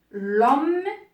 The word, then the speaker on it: homme: Ou bien devant un nom qui commence par un H muet. Par un H muet. Exemple, l'homme, pour un nom qui est masculin, l'homme, ou bien l'histoire.